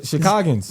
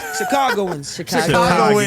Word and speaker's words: Chicagoans: The Chicagans. Man, I ain't never heard of that in Chicago. Chicagans. What the hell is How you say that? Chicago? Chicagoans.